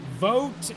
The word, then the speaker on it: Vogt: Vote is how they pronounce the driver of the 22's last name.